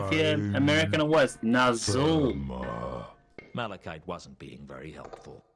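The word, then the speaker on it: Nazxul: Is it looking like the only way to get through to this guy was with a Nazul is how you pronounce that.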